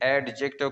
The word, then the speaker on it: adjective: बहुत से क्या है स्टूडेंट इसे एडजेक्टिव कहते हैं, इसमें डी जो है ये साइलेंट होगा।